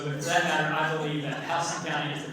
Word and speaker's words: Houston: house so for that matter I believe that house county is the correct way to pronounce it and so anybody has connection to